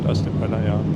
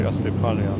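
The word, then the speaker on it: Αστυπάλαια: I said Astypalaia, but it's actually Astypalaia.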